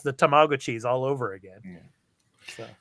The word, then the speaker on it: Tamagotchi: It's Tamagotchi. That's how it's pronounced. That's the correct pronunciation out here in Japan.